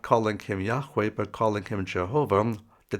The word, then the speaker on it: Yahweh: to be accurate it would be yahweh's Witnesses Yahweh Witnesses but they don't say that they're using